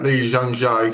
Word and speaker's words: Lee Jung-jae: get his name up to say it right, Lee Jung-jae, sold himself out by being in that show.